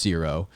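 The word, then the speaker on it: Ziro: hut crime crime lord named zero and it's pronounced zero and of course so that's kind of like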